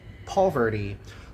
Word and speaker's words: poverty: Poverty. No inglês americano, nós vamos pronunciar como poverty.